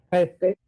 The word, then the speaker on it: prêt: prêt. Un préstamo, hein? ¿Se pronuncia la T o no? Non, prêt. Prêt.